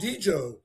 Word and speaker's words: Djo: Joe Carrie, he's called Djoe is Well, but my kids say that's not accurate. That's how it looks, but they said it's just Joe. The D is silent.